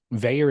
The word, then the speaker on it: Vaer: engineered for the ocean veyor is spelled vaer and we will save